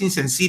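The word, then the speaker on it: Insensé: pero se llama Givenchy Incense o Incense. Creo que es Incense, tiene acento en la última E.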